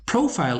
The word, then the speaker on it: profile: Profile is also accented on the first syllable, and these are the common errors that Spanish speakers learn and English make.